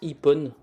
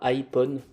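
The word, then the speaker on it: Ipone: pas qu'un indien d'accord que ça se prononce ippon et pas iphone des formations professionnelles je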